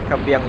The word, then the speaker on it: Kaybiang: kabang tunnel hot dogs ang iba pronunciation doon kabangang pero yung akin kabang kasi nga mas madali i-pronounce so sa na kit siya